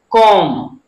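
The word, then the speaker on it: comb: कॉम, क्या पढ़ेंगे?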